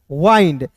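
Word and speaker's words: wind: पे डब्ल्यू आई एन डी है तो इसे विंड नहीं पढ़ेंगे इसे पढ़ेंगे वाइंड जैसे दोस्त यहां पे रहता है एफ आई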